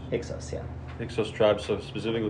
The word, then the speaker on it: Hyksos: Is that how you pronounce it? Hyksos? Hyksos, yeah.